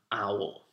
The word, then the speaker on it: owl: I'm adding it because it's pronounced completely differently from own but it starts the same the oh I 0